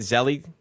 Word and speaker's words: Zelle: Is that how you say it, Zelle?